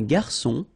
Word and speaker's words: garçon: Une cuillère à soupe, un garçon. Remember when we get this cédille beneath the C, it will give you the pronunciation S of C. So instead of K, as it should be with O.